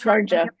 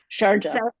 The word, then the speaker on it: Sharjah: Pronouncing that correctly, the Sharjah Architectural It's Sharjah. Sharjah.